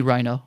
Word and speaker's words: Rhino: Technically the original pronunciation is Reno. Reno. Yeah, because I'm Portuguese. But uh people just call me Rhino.